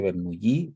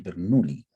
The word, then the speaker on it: Bernoulli: de la ecuación de, la gente le dice Bernoulli, pero es Bernoulli, ¿ya? Es suizo-alemán, así que se pronuncia Bernoulli.